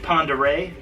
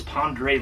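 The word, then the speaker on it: Pend Oreille: we passed uh Lake Ponderay which if you look it up on the map you're gonna be like where's this pandre Lake talking about because it's it's spelled like pendi Oreo or something I mean I probably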